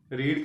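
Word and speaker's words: read: पत्र लिख चुका है रीड की स्पेलिंग वही होते ए रही है लेकिन इसकी प्रनंसीएशन बदल जाती है इसको रेड बोला जाता है सेकंड और थर्ड फॉर्म में यू हैव रेड डी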